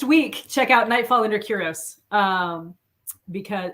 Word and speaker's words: Kyros: Next week, check out Nightfall Under Kyros. Because is it Kyros or Karos? What am I saying? Karos. I just made it up.